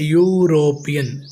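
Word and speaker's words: European: के माध्यम से लगाएंगे यहां पर ई भले लिखा हुआ है लेकिन हम उच्चारण में यू बोल रहे हैं यूरोपियन इसलिए यहां पर सही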